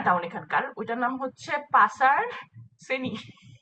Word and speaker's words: pasar: যেমন আমাদের বাজারের হচ্ছে পাসার। হাই হাই, এটা মানে তারপরে কি? তো পাসার বাজার, বাজার, PAS বাজারকে বলে পাচা? PASAR, কিন্তু এই আরটা হচ্ছে সাইলেন্ট। সাইলেন্ট।